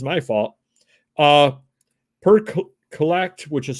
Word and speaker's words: CLLCT: Per Collect, which is spelled CLLCT, which is the Darnerville site.